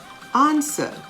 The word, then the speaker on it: answer: guess g-u-e-s-s guess tong t-o-n g-u-e the u is silent silent w words answer answer can you answer me if i ask